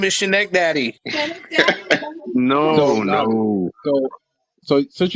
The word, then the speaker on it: Schenectady: Okay, I It's take pronounced Schenectady.